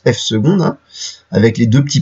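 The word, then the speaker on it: f″: Mais on vous rappelle que on appelle f seconde la dérivée seconde de f, donc ça se prononce f seconde, hein, avec les deux petits primes, on dit pas f prime prime, on dit f seconde, et on appelle ça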